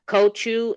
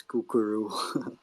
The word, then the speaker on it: Kochu: So we got Kochu and then we got Nikki next. Kochu and then Nikki next. What you got, Kochu? Kochu. Choo choo. By the way, it should be pronounced as kukuru.